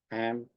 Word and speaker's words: Cham: Now the word Chum in Hebrew is Ham. They used to call it, the word C is silent, Cham, Ham.